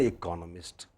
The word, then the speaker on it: economist: But next word, no, it is again economist. You see, ist does not.